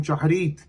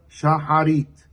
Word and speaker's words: shaharit: kriat shema shel shaharit with a sheva under the het in shaharit as opposed to others who regularly call the prayer shaharit.